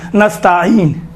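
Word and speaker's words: نستعين: ایاک نستعین، دیکھیں تا کے اوپر الف نہیں ہے، یہ چھوٹے حرکات میں سے ہے، زبر بڑا حرکات نہیں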